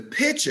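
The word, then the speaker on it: pitcher: sounded like they're not there's a difference between a picture and a picture the picture is what you take with the camera the picture is what you put your kool-aid in so don't be telling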